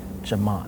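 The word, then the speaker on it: ကျွန်မ: In the first part where she's talking about how everybody should know about her, she pronounced the first person pronoun Jama perfectly. Jama, that's how it should be pronounced.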